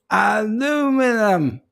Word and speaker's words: aluminum: in that lucky yes aluminum yes that's the way the americans say over here we say aluminium anyway guys it's been